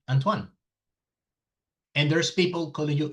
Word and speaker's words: Antoine: It's a French name. Your parents probably say, "No, his name is Antoine." Because that's the pronunciation. Antoan.